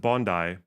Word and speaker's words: Bondi: Bro remember the hallador Bondi is pronounced Bondi okay Admiral bones thanks